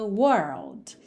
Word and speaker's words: world: Girl perto Girl lembra a gente faz primeiro até o r depois põe o l World também tá I